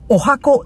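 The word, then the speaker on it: 十八番: あとですね、カタカナで、お箱意味。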